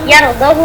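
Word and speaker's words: يَرْضَهُ: Kecuali pada lafaz yardahu lakum. Ini di sini pengecualian ini untuk kita yang baca dengan riwayat hafaz. Nah itu bacanya haknya tidak dipanjangkan. Yardahu lakum.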